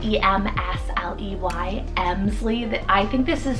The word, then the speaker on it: Emsley: On the girls' side is Emsley, spelled E-M-S-L-E-Y, Emsley.